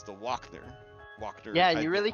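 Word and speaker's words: Wachter: wrong um so I was calling her the washer woman um but it's it's the walk there walk there yeah you really confused me like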